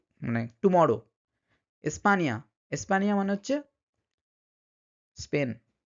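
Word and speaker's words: España: বলেন অনিয়ন নিয় নিয় এই নিয় উচ্চারণটা কিন্তু এই এন এর উপরে টিলস সাইন দিয়ে বোঝানো হয় যেমন নিনিয় মানে হচ্ছে ছেলে মানিয়ানা মানিয়ানা মানে হচ্ছে সকাল বা গ মানে টুমরো স্পানিয়া স্পানিয়া মানে হচ্ছে স্পেন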